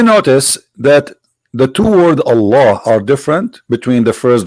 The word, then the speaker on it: Allah: The first one pronounced as Allah.